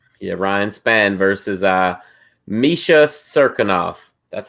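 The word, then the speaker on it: Misha Cirkunov: misha ryan spain yeah ryan spann versus uh misha serkinov that's how you say it man i actually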